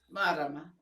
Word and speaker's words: Marama: Marama, yep, that's right.